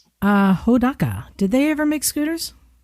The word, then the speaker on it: Hodaka: I know who How do they mispronounce? Hideka.